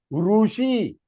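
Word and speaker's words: ऋषि: Long one is Rushi. Rutu, Rushi. It is not Rishi. वो हिंदी में है. That can be in Hindi, not in Sanskrit.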